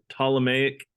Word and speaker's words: Ptolemaic: later known as the ptolemaic system the p is silent this model was geocentric